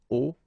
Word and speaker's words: hauts: And if you're a bit careful, you can hear that un haut commissionnaire and des hauts commissionnaires, well, clearly it is pronounced the same way. So you put the S at the end of both things here, okay, but then you don't pronounce them.